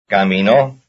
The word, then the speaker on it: caminó: Here is a 3-syllable word with stress on the last syllable. Number 37. Caminó.